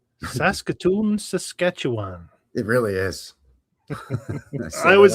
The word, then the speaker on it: Saskatchewan: a bit and go, oh, it's Saskatchewan, which you would be correct, but absolutely wrong. It's actually Saskatchewan. You gotta free run through the first two syllables. Yeah, well, it's too many syllables, so you have to make two of them one, I believe.